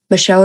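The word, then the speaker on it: Michaud: Um, and his name is it's like Spencer Micho astrology. Micho is spelled M I C H A U D.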